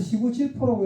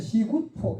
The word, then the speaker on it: 시구포: 그 시구 이거이 진짜 이게 사이옷 발음이 나는 거거든요. 그래서 시구질포라고 읽으면 안 되고 원래는 시구포 이렇게 읽어야 됩니다.